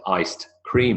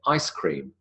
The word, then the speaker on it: ice cream: who says iced coffee who says iced cream we don't even write iced cream anymore but when it was originally invented people said iced cream cream that had been iced in fact we now just say ice cream because even if it was written with a d we wouldn't pronounce the